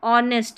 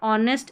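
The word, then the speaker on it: honest: को ओ ऑक्टोपस और ऑनेस्ट यहां पर ऑनेस्ट एच ओ को क्योंकि एच यहां पर साइलेंट है यू को अ अप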